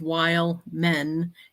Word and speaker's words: Wildman: does the same thing he puts while men is how you say it but it's we